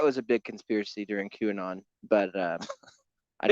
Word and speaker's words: QAnon: a big conspiracy during qanon but uh I it's pronounced Canan I miss qanon man